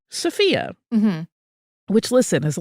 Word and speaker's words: Sophia: really really lovely but they all said sopia yeah every one of them and I was like okay this is an official event I'm going to prioritize this rather than like you know just people who are randomly talking about her um so that that was my there were others that used safia versus sfia but that was like the decider for me well I my gut